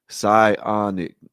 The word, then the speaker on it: Psionic: Psionic. Psionic. Oh, okay. Psionic. Okay, psionic. Okay, the P is silent.